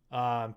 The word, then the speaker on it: palliative: That's how you pronounce it. Palliative.